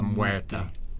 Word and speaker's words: Muerte: All right, now I want you to pronounce the next one. Lady Mechanica. Keep going. La Dama de la Muerte.